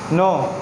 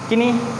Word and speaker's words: knee: किनी, नॉट किनी, but this is simply नी। What is this? नी, क्योंकि यहाँ पे के का जो साउंड है वो क्या हो रहा है?